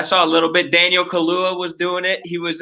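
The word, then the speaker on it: Kaluuya: pronounce his name again daniel kahlua like i think it's like the drink i was struggling about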